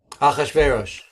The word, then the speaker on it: Achashverosh: The king, name pronunciation. Achashverosh.